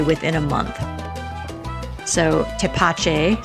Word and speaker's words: Tepache: within a month so toache sorry for the terrible pronunciation the first time around toache definitely a project worth